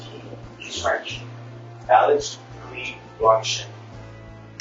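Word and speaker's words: Guy: Alice Key is pronounced Key.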